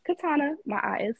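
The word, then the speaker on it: Katiana: c a r m o n and it's Katana my ey is silent so and again follow the link entertainment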